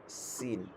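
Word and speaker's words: سين: তারপর হচ্ছে সিন, সিন হচ্ছে, সিনের উচ্চারণ যেমন সিন, পাখির আওয়াজটা যেরকম হয় চিকন করে, চড়ুই পাখির আওয়াজের মতো এরকম, সিন, সিন, সিন।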